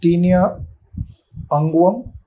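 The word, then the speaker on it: tinea unguium: itch next one is tinia angam I pronounce and remember it like ungi right ungi ungi in Hindi means as fingers so this is the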